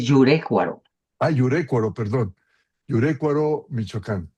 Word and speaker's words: Yurécuaro: cercana al cultivo intensivo de jitomate en Yerécuaro, Michoacán. Brenda Urbano eso. Yerécuaro. No, no, es Yurécuaro.